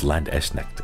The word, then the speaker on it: Landsknecht: Oh, it's Landsknecht. Okay, 3 syllables.